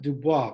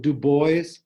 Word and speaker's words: Du Bois: and people called it Du Bois. I'm not sure if it was named after Dubois, but the pronunciation is Dubois, it's French.